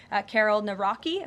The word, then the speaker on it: Nawrocki: He met with Karol Nawrocki, if I'm pronouncing that correctly.